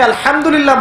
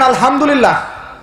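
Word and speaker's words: الحمد لله: হায়ে Houthi, এটাকে বলে বড় হা। উচ্চারণ কোথা থেকে করতে হয়? মাঝখান থেকে। মাশাআল্লাহ। এখানে যদি আপনি আলহামদুলিল্লাহ বলেন, অর্থ হচ্ছে সমস্ত প্রশংসা কার জন্য?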